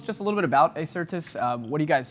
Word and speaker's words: Acertus: mr trent broberg he is the ceo of acertis trent thanks for joining the show and welcome